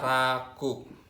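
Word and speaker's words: 落: Dibaca raku. Raku. Misalnya contohnya ya, pakai raku ya.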